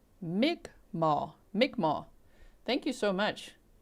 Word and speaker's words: Mi'kmaq: Maiden's World of Wax said that's pronounced Mi'kmaq.